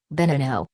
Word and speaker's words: Veneno: The Lamborghini Veneno, Spanish pronunciation, Veneno, is a limited production high-performance sports car manufactured by Italian automobile manufacturer Lamborghini.